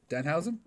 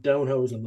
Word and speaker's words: Danhausen: Danhausen. Okay, I thought the first time that you said Downhausen. No, God, no.